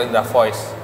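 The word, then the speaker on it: Indravox: Ini jadi sebelum nama Lokananta, nama yang lama itu Indra Fox atau Indra Voice, Indonesia Raya Voice. Indonesia Raya Voice. Fox itu bacanya voice ya.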